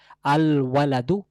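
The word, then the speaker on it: الولد: তাহলে যদি বলতে চাই ছেলেটি, আল ওয়ালাদু ছেলেটি, তাহলে লাম আসছে উচ্চারণ এখানেও।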